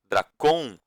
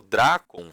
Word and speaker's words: Drácon: Eu falo de forma paroxítona, tá? Esses nomes, mas tem gente que gosta de falá-los, né? De pronunciá-los de forma oxítona. Dracon, Solon. Eu normalmente falo Dracon, Solon.